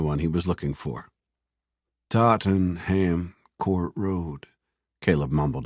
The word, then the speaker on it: Tottenham: "Can you tell me the easiest way to get to Tottenham Court Road?" Tottenham, she replied, making the word much shorter. Tottenham. It's pronounced Tottenham.